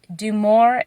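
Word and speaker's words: DuMOR: goodness like six years is called do more chicken food and i think it's spelled d-u-m yeah d-u-m-o-r demore chicken food and or chicken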